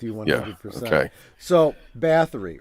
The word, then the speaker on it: Bathory: Should we explain to the chat who Countess Bathory, actually, I'm saying it wrong. I always pronounce it Bathory. It's Bathory.